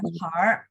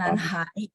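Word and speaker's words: 男孩: 男孩呀，男孩， Nah, 男孩， nanhar ya. 男 Itu 孩， dia kalau Bapak nggak mau pakai R, benar bacanya Ah. nanhai ya. Tapi kalau mau pakai R, R-nya digabung ke HAI jadi bacanya nanhar.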